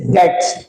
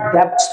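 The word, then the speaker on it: debts: Unable to पे हिज डेट्स, है ना, जो अपने डेट्स या कई बार डेब्ट्स भी बोलते हैं। सो it means डेट्स इज the right pronunciation, right, date is the correct pronunciation.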